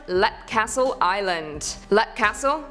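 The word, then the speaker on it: Leap Castle: Lep Castle, yep, it's pronounced Lep, is a castle located in Calgary County, Offaly Island.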